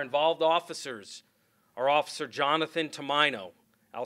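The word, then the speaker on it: Tomaino: Our involved officers are Officer Jonathan Tomino. I'll spell that.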